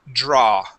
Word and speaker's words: draw: Sing good okay now remember the uh a w in most words will not make an ow sound you had pronounced an O at the end it creates an a sound only the word is draw please repeat that draw